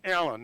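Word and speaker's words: Allin: by the name of erskine allen now his name is spelled a-l-l-i-n if you look it up uh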